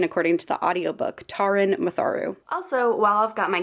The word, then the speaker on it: Taran Matharu: One quick note about this book is I keep saying Taran Matharu. I've only seen that first name pronounced that way, but I started listening to the audiobook and it's actually Taran Matharu.